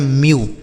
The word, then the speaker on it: mew: MEW, एम से आधा म, EW से यू, लिखा गया म्यू।